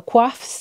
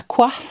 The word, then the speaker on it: coif: People wore hats or hoods or veils or coifs. This is an example of a coif, or sometimes it's pronounced coif.